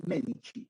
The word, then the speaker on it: Medici: el Duce, en italiano, cuando tú veas la letra C, esta C se pronuncia como che. Entonces, por eso se pronuncia los Medici, ¿bien?